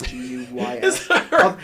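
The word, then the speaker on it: guise: oh oh I I I know it's gu i s e but I always hear it as gu y s guys just those dud just those dudes yeah well that's kind of how you pronounce it is guys like that I'll Circle back to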